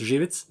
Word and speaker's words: Jivitz: So, I think that at least I can pronounce your surname. It's Jivitz. So, at least I got that. That's that's actually the perfect pronunciation.